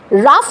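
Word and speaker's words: rough: কারণ উচ্চারণটা আমরা করছি রাফ।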